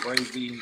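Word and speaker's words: Brayzie: All my homeboy called me Brazy. Spell it B R A Y Z I E, right?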